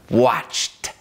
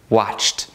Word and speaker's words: watched: Mais uma vez estamos ouvindo um leve bafinho de T aqui. Watched. Watched.